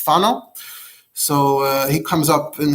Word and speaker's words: Fano: The world knows Ramami Pano, which is really in Italy it's pronounced Fano. So he comes up in here a little bit. I'm gonna pronounce it Fano because that's how it's pronounced.